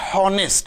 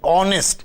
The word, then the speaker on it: honest: H is a consonant but when it is pronounced it is we do not say honest we say honest so it is an honest an honorable person and are like the train